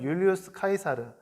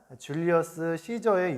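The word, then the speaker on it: Julius Caesar: 그는 18살이 되던 해에 당시 로마의 최고 통치자였던 라틴어로는 율리우스 카이사르, 영어 발음으로는 그 유명한 줄리어스 시저의 유언장에 따라 그의 양자로 입양되게 됩니다.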